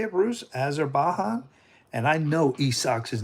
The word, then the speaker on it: Azerbaijan: We are going to learn about Azerbaijan. Am I saying that right, Bruce? You're quite close. It's pronounced Azerbaijan.